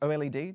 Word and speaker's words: OLED: Did you know it's pronounced OLED? Don't say OLED, that is incorrect.